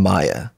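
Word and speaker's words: Maia: And yeah, like having somebody, like I want to have 2 kids, twins, Magnus and Maya. And Maya is spelled M-A-I-A.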